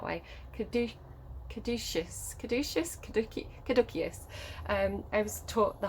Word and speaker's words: caduceus: stuff right it's the caduceus i pronounce it the hard see and i don't think i think it's a saucy but i just can't say it that way could do caduceus um i was taught